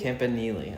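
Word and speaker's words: Campanile: How do you pronounce it? Campile. Campili. Campanili.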